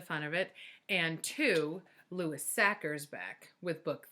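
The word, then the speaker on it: Sachar: it up online, and it's Lewis Sacker, like cracker.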